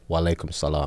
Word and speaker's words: wa alaikum salam: And then you would say wa alaikum salam.